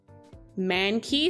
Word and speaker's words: Mankey: my wild very cool very cool very cool man key single strike as well or sorry no it's